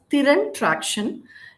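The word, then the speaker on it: Thiran Traction: to them okay actually the proper pronunciation is Tyrant traction uh tiran means in Tamil Talent it's a Tamil word thiran is talent and traction so my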